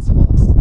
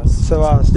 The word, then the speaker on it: Sabas: How do you say your name so people know about it? Sabas. Sabas. Yes, Sabas. He says it right.